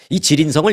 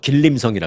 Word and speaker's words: 지린성: 접경 지역인 그 지인성이 지린성은 옛날에는 한국식으로 발음했던 길림성이라 그랬죠 이제 그게 이제 중국식 발음으로 지인성 있니다 지린성의 그 예벤